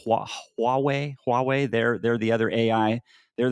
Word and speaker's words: Huawei: Kind of, NVIDIA and their arch rival, the America's NVIDIA, China's their arch rival is I think it's pronounced Huawei.